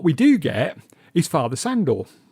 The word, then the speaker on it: Sandor: do get is father sandor father shandor i think it's pronounced andrew kia who's another